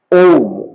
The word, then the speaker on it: ওম: ওম মানে হচ্ছে অ, হস্যু আর ম। হ্যাঁ, অ যখন বলবো পেটটা কম্পন হবে, হস্যু যখন বলবো তখন গলার এই কণ্ঠদেশটা মানে কম্পন হবে, এবং যখন ম বলবো তখন আমাদের ব্রেনটা কম্পন হবে।